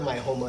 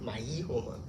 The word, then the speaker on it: Maijoma: Like it shouldn't be actually, it's spelled Maijoma. So it should be like, if you're saying it like Spanish, it should be like Maihoma, but it's Mahoma because it's indigenous, right?